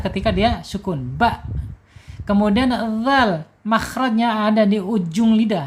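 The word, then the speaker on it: ذال: Bukan zal tapi dzal ya.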